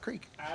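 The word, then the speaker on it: kriek: win a glass of creek oh hell yeah creek beer uh spelled k-r-i-e-k which is how i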